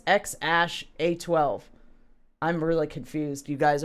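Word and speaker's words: X Æ A-12: joe rogan experience broadcast the x is pronounced like the letter x x pronounced ash and a12 my contribution is said how it appears thus x ash a12 i'm really confused you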